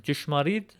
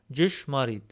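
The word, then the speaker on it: ճշմարիտ: Here we have Yesyem Jishmarid Vortadunga, which translates to I am the true vine. This word is pronounced Jishmarid. Jishmarid. So this letter in Western Armenian gives a combination sound of D and J.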